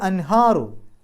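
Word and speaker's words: الْأَنْهَارُ: ഹംസത്ത് വസിൽ ആയതുകൊണ്ട് അൽ അൻഹാറു ഹാന്റെ മുമ്പ് സുക്കൂനെ നൂന് ഇളഹാർ ചെയ്യുക വെളിവാക്കി പറയുക അൻ എന്നുള്ള ശബ്ദം പുറത്തേക്ക് കേൾക്കണം അൻഹാറു അപ്പൊ മസാക്കിന അവിടെ തൻവീൻ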